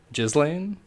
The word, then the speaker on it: Ghislaine: gets suicided as well Jasleen her name's basically pronounced that way I'll show you kids